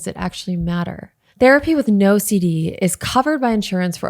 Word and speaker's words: NOCD: NOCD, pronounced NOCD, is the world's leading OCD treatment provider.